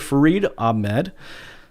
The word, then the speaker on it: Farid Ahmad: Farid Ahmad.